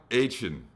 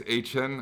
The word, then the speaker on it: Achane: Their rookie, Devon Achane, I think is the correct pronunciation. I thought it was Achane. I think it's Achane.